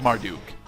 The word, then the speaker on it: Marduk: the mart uh the marduk mantra marduk yes mark duke pretty sure it's martin it is marduk that one i actually did i mispronounced mostly because i usually mispronounce that one